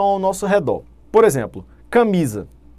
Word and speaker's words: camisa: Por exemplo, camisa. Camisa, olha a tonicidade na penúltima sílaba, é uma palavra paroxítona.